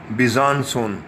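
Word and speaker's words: Besançon: अब अगली जगह भी बीसां की बजाय सही तलफ़्फ़ुज़ है बिज़ानसोन, बिज़ानसोन, देख लीजिए, फ्रेंच प्रोनाउंसिएशन ऐसे ही है, बिज़ानसोन।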